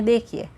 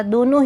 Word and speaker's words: the: यहाँ पे हमने देखिए सब जगह, दोनों ही जगह इसकी प्रोनाउंस लगेगी ध, because next to द it starts with consonant and pronounce also it goes with consonant. That's why it will be द, नॉट दी।